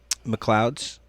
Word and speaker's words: McLeod's: it is the coolest place and it's mccloud mcleod's m-c-l-e-o-d-s mcleod it's like spelled like a scottish way you know and uh